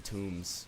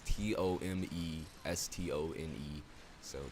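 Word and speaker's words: tomestones: pronounce that without like it's tone stuff it's tone stones but it's not tomb trust me it's not tuned it's t-o-m-e s-t-o-n-e so tome stones i need more of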